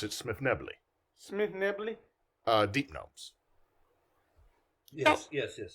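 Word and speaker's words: Svirfneblin: Oh, we would pronounce it Smith Nebley.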